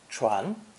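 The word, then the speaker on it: 全: 12 with jade to create the new idiogram pronounced second tone tron tron the original itogram suggests putting one's finest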